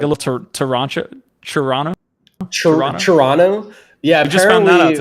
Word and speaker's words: Toronto: it's like a little Toronto Toronto Toronto yeah like yeah we learned that the right way to say Toronto is Toronto Toronto in late January